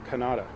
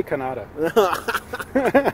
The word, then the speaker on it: Kannada: me, and he's from Kannada. Kannada. I always say Kannada. I've been pronouncing it wrong this whole time. Because, you know, Canada, I think of... Canada. I think of the country above me.